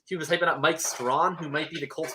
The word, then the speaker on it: Strachan: Yeah, it's Mike Strawn. Strawn? It's not Strachan. It's Strawn.